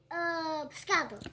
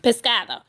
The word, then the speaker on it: pescado: Pescado. Pescado.